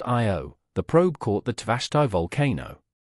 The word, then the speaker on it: Io: On Io, pronounced Io, the probe caught the Tvashtar volcano in action, capturing a volcanic eruption that reached 200 miles, 320 kilometers, into space.